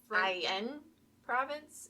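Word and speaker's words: Aix-en-Provence: I would say in IN province if it's French. Because IX is silent.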